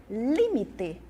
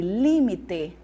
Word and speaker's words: límite: é periferia perifa periféria no português eu tenho limite no espanhol eu tenho limite e límite no português eu tenho